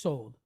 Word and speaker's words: sod: And the word sod means hidden. S O D, but it' be pronounced sold.